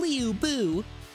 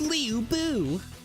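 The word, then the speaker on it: Lu Bu: I could not stand them saying Leo Buu. It's Leu Boo.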